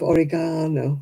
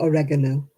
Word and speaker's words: oregano: And we have oregano. Yeah, not oregano.